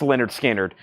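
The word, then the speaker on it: Lynyrd Skynyrd: I got a restock of pronounced Leonard uh pronounced Leonard skinnard this is the 2lp 45 RPM and Terry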